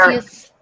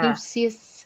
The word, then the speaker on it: Caduceus: That's the one I can't pronounce. Where, Caduceus, yeah, Caduceus.